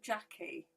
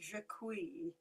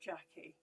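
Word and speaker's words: Jacquie: Oh, I pronounce my name Jackie. Just I just happened to spell it with a Q. though I I have been called it jaqueen but just pronounce it Jackie.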